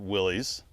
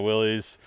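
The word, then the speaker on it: Willys: videos I was like say it either way you want yep or just slur it a little bit oh the Willies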